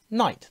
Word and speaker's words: knight: this example with knight obviously we have a silent k at the beginning now it's up to you you could not worry about that you could just explain to the child that when we say it it's night the first sound is